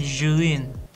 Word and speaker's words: Zhiyun: Lebih ngucapinnya tuh Zhiyun karena emang dari hurufnya itu Zhiyun. Tapi kalau misalkan dari bahasa Mandarin atau Taiwan Mandarin, ya pokoknya bahasa Cina lah. Pokoknya bahasa Mandarin itu pengucapannya Zhiyun. Ya pokoknya begitulah.